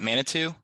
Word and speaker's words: Manitou: and mana what how do you say it manitou yeah manitou springs and she was up on